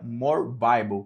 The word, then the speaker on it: More Bible: Se digita More Bibli, né? Assim como está aqui o nome do nosso canal, More Bibli, mas se pronuncia More Bible, que a sua tradução é mais Bíblia.